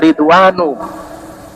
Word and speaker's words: Ridwan: Adapun ridwan tidak dibaca tanwin walaupun dari bahasa Arab. Kenapa? Karena dalam ilmu nahwu terkena penyakit. Yang pertama ada tambahan alif dan nun. Dan ini adalah nama. Jadi dibacanya ridwanu.